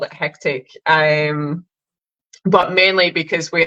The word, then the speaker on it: Hecktic: have another theory too hectic only has two syllables makes it a lot easier for her to pronounce as well oh now he's just like the counter that's exactly why we call it hectic I love that I